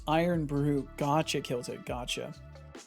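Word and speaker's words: Irn-Bru: Oh, that's pronounced iron brew.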